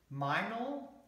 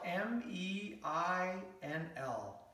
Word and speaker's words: Meinl: So I started looking at alternative solutions, and I found this stand from, I think it's you say it is Meinl. It's spelled M-E-I-N-L. So Meinl or Meinl Percussion.